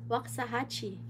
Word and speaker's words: Waxahachie: Ay, I pronounce it right. Oh my goodness. Waxahachie.